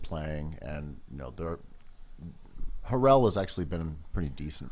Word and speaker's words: Harrell: and you know they're Harrell has actually been pretty decent for them I think I love the way you say his name Barrel I mean well it's Harrell uh sort of like uh Neptunes anyway sorry herrellas has